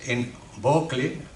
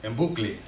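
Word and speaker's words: Enbucle: Su cuenta en Instagram, que es en Bocle, eh yo a veces yo digo, vamos a pronunciarlo en inglés, se lo he tenido que preguntar, ¿va en inglés o quiere decir libro y tal? Así como suena, ¿no? En bucle, vamos, o en bocle.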